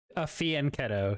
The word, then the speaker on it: Fianchetto: Is that how you pronounce it? Fianchetto, yeah. Fianchetto.